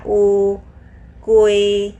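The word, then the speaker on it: 乌龟: อูกุย เจอ มั้ย คะ ตัว อู ก็ คือ ตัว นี้ ค่ะ บย กับ ตัว ยู นะ คะ อู กุย ตัว เกอะ บวก อุย เสียง ยู กับ ไอ นะ คะ อุย อูกุย ตัว นี้ ค่ะ อูกุย หมาย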